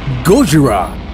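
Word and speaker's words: ゴジラ: Godzilla, or Gojira, as it's pronounced in Japan, has been a popular cultural figure for over half a century, appearing in comic books, television, video games, and cinema.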